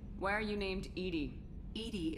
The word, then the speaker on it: EDI: are you named edie edie is the phonetic pronunciation well remind me to